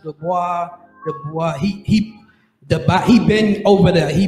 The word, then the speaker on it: Dubois: That's how you pronounce it, Dubois.